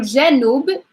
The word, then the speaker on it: جنوب: So I'm going to pronounce them again. Shamal, Shamal, Shamal. So I do emphasize Shamal. So Janub, Janub, Janub is the south.